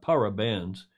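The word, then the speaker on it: parabéns: their job or achieved any gold really it's pronounced para para benz although it differs ever so slightly depending on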